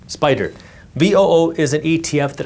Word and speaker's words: SPDR: By the way, Spider is SPDR, pronounced Spyder.